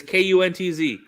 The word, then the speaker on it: Kuntz: It's not hard. It's Kuntz. It is a very, very, very close one to being. That's how you pronounce that.